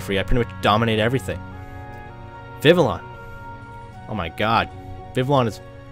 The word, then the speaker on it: Vivillon: Vivillon.